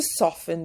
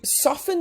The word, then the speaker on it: soften: number of emojis to soften the blow be careful with the pronunciation of this word the t is silent so you see that's what I used to do so you soften the blow you send